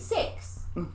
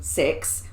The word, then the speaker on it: CIX: it's called is it six cis yes yes cix yeah they're called six but you spell it cix i'm just glad you